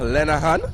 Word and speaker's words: Lenahan: So, it seems like I've been getting the name wrong for the Canadian. It's Oliver Lenahan.